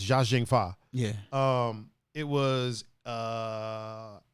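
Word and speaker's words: Chow Yun-fat: and chao young fat which i found out is actually uh pronounced zha zheng pha yeah um it was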